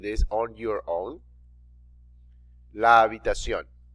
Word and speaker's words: habitación: La habitación. Notice the H is silent.